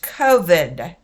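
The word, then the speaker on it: כבד: So it's K-O-V-E-D. COVID. Pronounced COVID.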